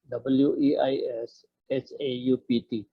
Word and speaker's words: Weishaupt: At ang founder niya ay isang German, si Adam Weishaupt. Weishaupt, W-E-I-S-H-A-U-P-T. So, pronunciation nito is Adam Weishaupt.